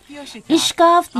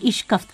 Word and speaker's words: اشکفت: پوری طرح نمایاں ہیں۔ اشکافت یا شکفت کے معنی شگاف کے ہوتے ہیں، تاہم مقامی لہجے میں اسے اشکفت کہا جاتا ہے۔ ایزے معتدل آب و